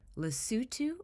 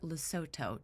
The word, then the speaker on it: Lesotho: The name of the country is Lesotho or Lesotho, depending on where you are in the world, slightly different pronunciations.